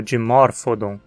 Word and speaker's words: Dimorphodon: em o dom como dimorphodon lembre-se de que o PH soa como f e aqui ou Nonatos